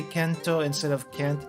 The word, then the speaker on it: Kento: just saying so yeah it's a Japanese pronunciation thing uh because Kent doesn't re does doesn't really roll off the tongue very well in Japanese so it would be Kent